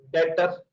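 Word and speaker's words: debtor: ूस कर रहा हू डेटर इसमें ब साइलेंट है नफ बोल व्ट इ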